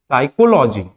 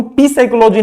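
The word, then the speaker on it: psychology: पहला वर्ड हम देखेंगे साइकोलॉजी साइकोलॉजी यहां पर प के बाद क्या आया है ए आया है इसको हम प साइकोलॉजी नहीं पढ़ेंगे य जो प है य क्या हो जाता है साइलेंट हो जाता है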